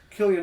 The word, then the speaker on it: Cillian: do forget to mention Cillian Murphy or Killian Murphy over you pronounce it Killian mark yes killer Murphy